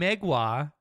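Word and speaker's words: Mgła: Okay, so the band Megwa, the fucking black metal band, are they canceled or not?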